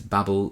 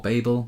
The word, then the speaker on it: Babel: for a while is Babel by RF Kuang or Babel. I think we're supposed to pronounce it Babel. It depends on where you come from, I think, how you pronounce this.